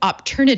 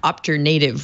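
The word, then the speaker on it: Opternative: hoping for the best also thank you for pronouncing op turnit of the way that I'm sure it's supposed to be pronounced and not opt your native which wasn't making any sense to me at all that's alright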